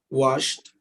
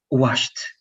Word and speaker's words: washed: in the simple past washed washed washed like t exactly and that's because the s h is not a strong consonant right but the t